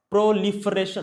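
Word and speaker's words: proliferation: प्रोलिफरेशन, pro life, दिख रहा है लाइफ? प्रोलाइफरेशन, इसको प्रोनाउंस तो ऐसे करते हैं कि प्रोलिफरेशन, प्रोलिफरेट करना, प्रोलिफरेट यानी प्रो लाइफ।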